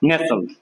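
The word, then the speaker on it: nestle: টির উচ্চারণ হবে না অনেকে আমরা বলব নেস্টল এখানে টি এর উচ্চারণটা হবে না নেসল নেসল এরপরে কি হবে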